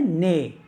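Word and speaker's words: nez: पे एन ई जड एन ई जड इसको पढ़ते हैं ने ने मीस होता है नोज तो फ्रेंच में जो लास्ट वाला अल्फाबेट होता है उसको साइलेंट कर देते हैं नेक्स्ट वन इ हियर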